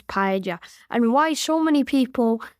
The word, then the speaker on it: paella: So the correct way to say this word is paella.